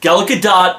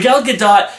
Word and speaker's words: Gal Gadot: Oh, and by the way, I found out that her pronunciation of her name is Gal Gadot, not Gal Gadot. It's how it looks.